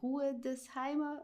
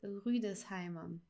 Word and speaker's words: Rüdesheimer: So we pronounce it here Ü. We don't say Ruhedesheimer, but here in this case, it's Rüdesheimer.